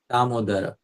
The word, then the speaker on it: Damodara: Damodara. This name has 4 syllables. Da, Mo, Da, Ra.